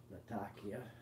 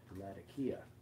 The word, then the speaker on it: Latakia: supposed to be pronounced the name of the place Syria how it's pronounced by the locals is Latakia not Latakia no matter no I